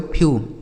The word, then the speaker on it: few: SEW यह लिखा गया आपका स्यू, एस से आधा सा EW का उच्चारण यू, लिखा गया स्यू। आगे FEW यह लिखा गया दोस्तों फ्यू, क्या लिखा मेरे भाई फ्यू।